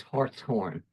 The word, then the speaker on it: Hartshorn: But in fact, his name and his pronunciation was Hartshorn, because in this heraldry device, you can see hearts, or what the English called heart, deers. And so the family was actually Hartshorn.